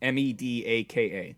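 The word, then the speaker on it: medaka: research at work for I'm gonna get the pronunciation right medica or medica it's ME Daka a species of small fish native to Japan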